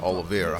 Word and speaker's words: Oliveira: Yeah, Oliveira.